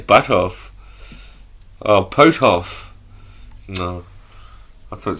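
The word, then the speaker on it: Puthoff: Parapsychologist Hal Butthoff. No, Butthoff. The research UFO-related development. Butthoff. That's the pronunciation.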